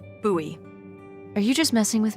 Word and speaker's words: Bowie: no warning he pulls out this huge Rusty Bowie knif it's actually pronounced buoy what no it's like the last name like David Bowie different last name buoy are you just messing with me no that's